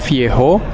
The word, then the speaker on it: Viejo: Jadi ini mereka sebutnya namanya tuh Viejo, tulisannya V-I-E-J-O. Kalau J itu kan di bahasa Spanyol tuh dibacanya H.